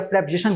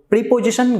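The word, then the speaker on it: preposition: ऐसा नाउन या प्रोनाउन जिसका प्रयोग वर्ब के बाद हो या प्रेपोजिशन के बाद हो। प्रीपोजिशन गलत प्रोनाउंसिएशन है, प्रेपोजिशन, प्रेपोजिशन।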